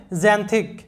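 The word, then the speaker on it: xanthic: তারপরে দেখো যে এক্সে তোমরা জানো জ উচ্চারণ হয়, আর এখানে যেহেতু এই কনসোনান্টের মাঝে আছে তাই এই উচ্চারণ হবে XAN জেন। তোমরা জানো যে THে থ উচ্চারণ হয়, আর যেহেতু আইটা কনসোনান্টের মাঝে আছে তাই আইটার উচ্চারণ হবে ইকার বা ই এরকম সাউন্ড হবে, তাহলে THIC থিক, সিতে ক হয় তোমরা জানো, তাহলে জ্যানথিক, জ্যানথিক।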